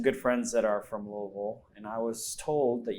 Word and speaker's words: Louisville: people thereare say but I was just corrected last night on my pronunciation of louel by someone from Bowling Green which is another city in Kentucky um yeah she was like oh no that's not how you say it you say Louisville like well I am